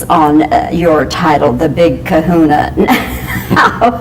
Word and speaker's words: Kahuna: I got the biggest kick out of it myself because everybody mispronounces it, and I keep trying to tell them what it's the Big Kahuna. They call me the big Carbola. It's Kahuna, and I thought it was really funny.